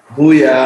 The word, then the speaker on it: Mwiya: Mwiya. No worries. Mwiya. Exactly right. Yeah, you got it. Mwiya.